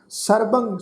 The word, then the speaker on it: सर्वंग: सर्वंग, सर्वंग शब्द नाश की उच्चारण करांगे।